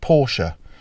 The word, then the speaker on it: Porsche: So here I am then in the Porsche Cayman S, and yes, it is pronounced Porsche.